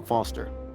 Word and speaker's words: Foster: so it does I'm Foster I'll remember that easy because your name rhymes with fossil and your old thanks